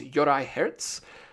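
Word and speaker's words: Juraj Herz: finally learned how to say his name it's Yori Herz he's an amazing check director I mean I've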